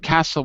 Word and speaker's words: castle: again sorry sorry look this word is special because it's written differently than we say it like the word castle the word castle we don't read the t here it's the same well